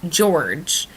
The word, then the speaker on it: Jorge: spells it okay so it's spelled Jorge but it's pronounced George like I know Spanish